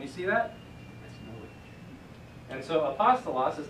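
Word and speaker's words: ἀπόστολος: that just tells you that's the syllable where you want to put the emphasis so it's not a possible loss it's a pasta loss so we'll see that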